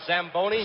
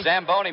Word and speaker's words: Zamboni: high it is it's Italian you should have pronounced it what does it call the samboni Zamboni machine and Joe you and I were talking